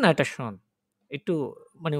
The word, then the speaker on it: schon: এটা schon আর এটা হচ্ছে schön। এটা schön আর এটা schon। একটু মানে pronunciation একটু ইয়ে আরকি।